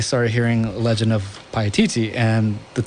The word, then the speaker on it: Paititi: Paititi. Yeah. Paititi.